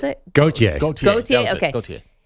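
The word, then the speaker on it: Gotye: How do you pronounce it? Gautier.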